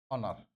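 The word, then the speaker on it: honour: ओनर।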